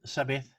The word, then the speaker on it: Zabeth: now her name is sabith fenter as i've been told now you spell it or you pronounce it with an s and leave the t out so sabath is a chartered accountant